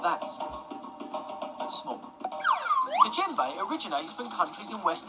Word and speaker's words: djembe: Djembes are found in all different sizes, from big to medium to small. The djembe is a single-headed drum. Remember, the D is silent. Djembe.